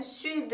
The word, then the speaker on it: sud: 남쪽 은 "le sud" 이고 , 프랑스어 에서 는 보통 마지막 자음 은 발음 되지 않습니다 . 하지만 이것 은 " 수드 " 라고 발음 됩니다 .